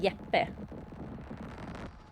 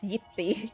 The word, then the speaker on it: Jeppe: Yeah, that's like, because it's, we would pronounce it Jeppe. But in English, apparently it's yippee.